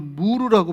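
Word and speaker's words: مر: 그래, 가시나무 껍질에 구멍을 뚫어가지고 그거를 받아들이는데, 이게 아라비아 언어로 무르라고 발음하는 거예요.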